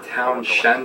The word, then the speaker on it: Townshend: end with lamb or Townshend the dam it's a very weird spelling and pronunciation T o WN SH E and D anyways awesome little bridge